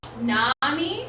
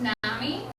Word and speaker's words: nomy: about that a minute Nami is pronounced Nami and it is like in the end of the word economy and it means knowledge